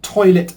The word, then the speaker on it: toilet: The two words are toilet and pilot. Both words are two syllables and the stress in both words is on the first syllable.